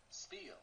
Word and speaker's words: spiel: computer for a second Spiel Spiel okay yeah oh because it is spelled like Spielberg okay that makes sense